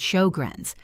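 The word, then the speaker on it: Sjögren: There is an autoimmune condition called shogrin syndrome pronounced shograns that specifically and aggressively targets the moisture producing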